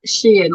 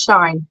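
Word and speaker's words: Shein: have to mention retailers I can never pronounce it that Sheen or shine however you pronounce it got hot now sorry if I miss too earlier where does that come from uh it's a company called she Shen shine I think it just pronounced shine I don't think anyone's ever quite worked it out so just she in or shine so yes right yeah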